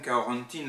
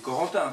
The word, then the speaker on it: Corentin: de la Basse Bretagne carentine lahour je peux prononce à la bretonne mais c'est Corentin quoi en français et fasciné par les contes